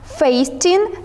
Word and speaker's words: fasten: We don't pronounce t in this word.